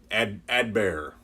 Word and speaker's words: Adbert: about advert Al's lay a dead bear don't really pronounce the T Edberg my my tongue